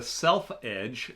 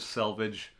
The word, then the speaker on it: selvedge: so these the the the self Edge is what it's a contracted word Salvage it's spelled a number of different ways but it means self edged so the edge is